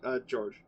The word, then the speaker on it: Georg: also, are we pronouncing your name right? Rhett? No, George.